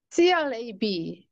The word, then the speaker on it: crab: 우리말은 그 받침 소리로 비읍이 오면 거센 소리 피읍으로 발음을 하잖아요.